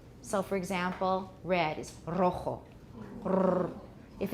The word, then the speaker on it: rojo: A trill is written with a double R, and also if a word starts with a single R in Spanish, that is also a trill. So for example, red is rojo.